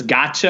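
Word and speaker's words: gacha: refer to them as gotcha I think is the way you pronounce its G a CH a but in any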